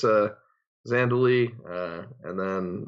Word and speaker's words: Zhandaly: right yes it's a Zandu Lee and then it's got an H it's strange the H is silent but yeah so it's